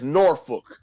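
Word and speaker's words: Norfolk: no this n nor it's norfol say it right so I can't if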